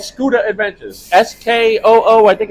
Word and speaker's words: Scooter: It's called Scooter Adventures.